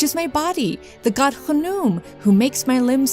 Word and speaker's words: Khnum: The ram-headed or sometimes crocodile-headed god Khnum, sometimes pronounced Khnum.